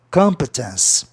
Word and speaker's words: competence: Competência tem que ser proparoxítona, porque termina em vogal duas consoantes. Esqueça que ele é do ence, tá? É como se fosse duas consoantes no fim. Aí a sílaba tônica está na terceira casa silábica de trás para frente, que é justamente no O.